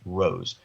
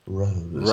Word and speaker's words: Roos: I think her last name is pronounced Rose, spelled Roos, last name pronounced Rose.